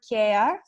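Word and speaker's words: κέαρ: And we found the name, the word Keᾰρ, which is written on our boxes exactly as it is in ancient Greek. And it is pronounced in Greek, like care, the word for care.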